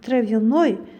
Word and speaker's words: травяной: Бул травяной чөптөн жасалган, чөптүү деген маанини берип, бул учурда о тамгасына түшүп ударение, яны биз кыскача травяной деп окуйт экенбиз.